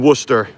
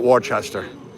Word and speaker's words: Worcester: If I can pronounce Pucket in Worcester, we're all good. It's not Warchester.